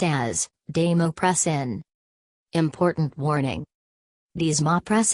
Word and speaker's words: desmopressin: baisemeaux pressin nasal pronounced as damu press an important warning these ma press and nasal may